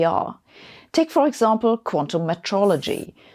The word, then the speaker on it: metrology: take for example Quantum Metrology that's not a mispronunciation of meteorology that's making better measurements